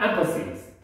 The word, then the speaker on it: emphasize: emphasize. 강세가 앞에 있어요.